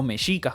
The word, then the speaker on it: mexicas: ahí y más adelante habrían adoptado de término mexicas o mexicas como se pronuncia en mexico para referirse a ellos mismos